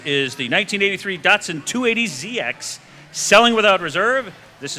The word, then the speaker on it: Datsun: This 1983 Datsun. Did I say it right? Yeah, Datsun. Datsun.